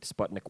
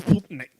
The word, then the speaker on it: Sputnik: This was 3 years prior to the first human-made satellite, Sputnik 1, being launched. You didn't say it right. It's Sputnik.